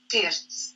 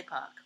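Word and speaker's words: Pirc: This is the official pronunciation of the chess grandmaster. Vasya Pirts.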